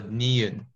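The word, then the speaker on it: 니은: So niun. Okay, and it makes the N sound.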